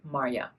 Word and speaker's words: Marja: I'm not sure how you pronounce it in English, but it's a well-known Dutch name, and in Dutch you would say Marja.